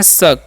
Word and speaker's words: suck: तो बढ़ते हैं, SUCK लिखा हुआ है ना, तो इसे हम लोग पढ़ते हैं शक। क्या पढ़ते हैं जी, शक पढ़ते हैं, ठीक है। सुक नहीं, यू का उच्चारण अ करना है।